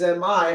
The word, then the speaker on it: mi: it's spelled m e but in music in solfege me is mi and it doesn't mean